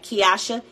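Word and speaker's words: Kiousha: phonics I don't know um it's k-i-o-u-s-h-a k-i-o-u-s-h-a kyosha kinder k-i-n-d-e-r okay Kimberly Brooks wants a rush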